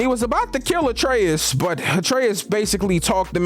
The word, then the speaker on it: Atreus: So after this, you remember when I told you that Atreus rhymes with Betrayus?